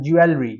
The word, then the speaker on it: jewelry: I usually pronounce this word as jewelry.